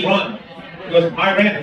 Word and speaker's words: Iran: No, it's Iran. He goes, Iran. I said, no, I'll misspell it for you.